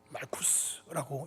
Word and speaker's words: 말쿠스: 말쿠스라고 읽는데 뜻이 킹브킹덤.